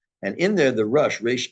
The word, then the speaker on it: Rosh: and in there the rush spell like Ro uh I pronounce it Rush it's also pronounced R like head um you will find